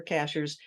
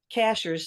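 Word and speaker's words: Cashiers: on it by the way Cashers sounds like a strange word uh it's spelled just like a cashier at the supermarket uh we actually have a town here in North Carolina called Cashers and um that's where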